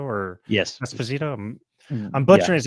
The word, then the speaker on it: Esposito: that one actor whose name I could not pronounce Carlo uh yeah exactly yeah Giancarlo Giancarlo espanito or yes Esposito I'm butchering his name he's amazing that's why